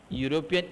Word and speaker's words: European: European E is, here E is vowel, then also A is used, but E European sounds European. So European is not a vowel sound.